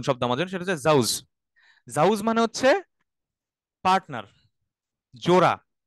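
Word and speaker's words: زوج: জোড়া অনেকগুলা পেয়ার হ্যাঁ জাউজ আজওয়াজ জাউজ আজওয়াজ হুম আমরা একটু দেখি আচ্ছা এইটা পড়তে যেয়ে জাউজ অর্থটা একটু উচ্চারণটা মনে রাইখেন শুরুতে জা লাস্টে জিম হ্যাঁ এটা যদি ঘুরে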